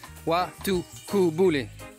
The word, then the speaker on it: Waitukubuli: Waitukubuli, that's the correct way to say it.